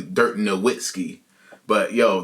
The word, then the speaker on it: Nowitzki: was talking about Dirt Nowitzki when I thought it was just a W, Dirt Nowitzki. But yo, the W is really like two V's for real.